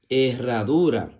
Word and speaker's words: herradura: La palabra herradura se escribe con H-E que suena E, doble R-A que suena ra, D-U que suena du y R-A que suena ra. herradura.